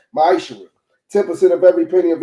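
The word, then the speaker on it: מעשר: Means tenth in Hebrew and is pronounced ma'ishra.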